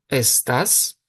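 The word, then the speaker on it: está: Ту естас. Ти є знаходишся бути знаходитись. L ея еста. Як зараз ми наголос з вами поставимо потрібний цей еста. Ось тут наголос цей, будь ласка.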